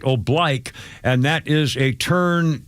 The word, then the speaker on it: oblique: OB B L I Q U E which is which is pronounced oblique in many other place but in the Marine Corps when you're marching it's right oblique and that is a turn to like a